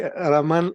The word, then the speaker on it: Roman: It's actually Raman and I'm struggling it with it myself, so completely understandable.